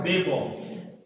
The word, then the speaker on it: দেব: দেব কিন্তু এর শেষে অকার আছে দেব আসলে উচ্চারণটা হয় দেব ঠিক আছে আমরা বাংলায় শেষের অকারটা অধিকাংশ ক্ষেত্রে